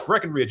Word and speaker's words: Breckenridge: For some reason they think there's supposed to be a B in the middle of it, but uh no, it's Breckenridge.